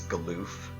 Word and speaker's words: Galuf: Apparently, the official translation, or not translation, the official pronunciation is Galoof. Galoof. Which is just like, no, It's that sounds dumb, and I'm not saying that. It's like Bidoof.